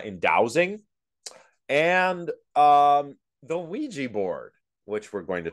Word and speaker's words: Ouija: shared that I forgot I just remembered the funny pronunciations I forgot all the weird questions like how do you burn Luigi board how do you burn oeg board like people needed to